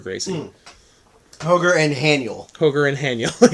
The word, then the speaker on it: Roger: Gracie I have seen Roger Gracie please let's pronounce it right hoger Gracie hoger and hanel hoger and hanel even though it's